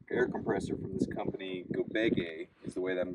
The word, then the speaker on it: Gobege: received an air air compressor from this company gobege is the way that I'm going to pronounce it g-o-b-e-g-e and we're going to test